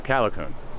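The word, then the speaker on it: Callicoon: How do you pronounce it? Calicoon.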